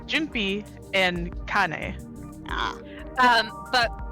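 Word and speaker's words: Junpei: So uh it's Jinpi and Kane.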